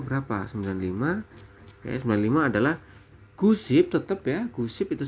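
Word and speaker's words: 구십: 9 itu gu ditambah dengan SIP jadi gu SIP. Seperti itu, teman-teman. Nah, apabila di sini diminta misalkan 95, teman-teman ya. 95. Pak, kalau 95 berapa? 95. Ya, 95 adalah gu SIP tetap ya.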